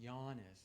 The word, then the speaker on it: Janis: is Giannis mlov and the first name it uh it's pronounced yanis like like you're yawning and when I was